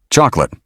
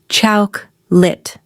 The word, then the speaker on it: chocolate: Last challenge for this section, chocolate. Take your guess. A common mistake is saying cho-co-late. In natural speech, most people say chawk-lit. It's shorter and much smoother.